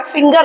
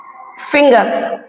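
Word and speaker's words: finger: जी ई आर जिंजर यहां पर friends मैं एक चीज और क्लियर करना चाहती हूं कि जैसे य जि की स्पेलिंग है सेम स्पेलिंग जो है फिंगर की भी होती है फिंगर फिंगर लेकिन इसको हम फिंगर पढ़ते हैं और इसको जिंजर यहां पे जी का प्रोनंसिएशन ज है और यहां पे जी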